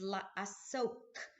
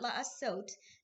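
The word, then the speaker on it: לעסוק: study of Torah and the Hebrew word is la soap with a cuff sound at the end not not la a suit that means to do but la soap which means to engage in or immerse in and I love I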